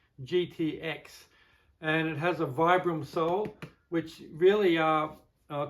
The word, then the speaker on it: Vibram: one that has a Vibram soul. Vibram, Vibram, it's I think it's Vibram, how they say it. VIB Ram, Vibram.